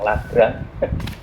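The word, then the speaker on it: Lagrange: e pengganda lagrang ya lagrang bacanya ada yang le r ada yang lagrang dibaca apa aja L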